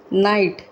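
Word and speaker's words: knight: चलिए नाइट, ये भी नाइट, ये भी नाइट, इसमें के साइलेंट होता है।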